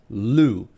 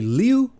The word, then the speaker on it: Liu: Kings by Ken luu I really want to say Leu because it's spelled exactly like xiin Liu's name but I think it's pronounced L because I think I've heard him pronounce it that way and if that's how Ken pronounces his name that's probably how I should pronounce it too first things for spoiler